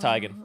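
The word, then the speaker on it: Teigen: love this podcast Chrissy Tegan let's get her it's pronounced tigan just saying oh let's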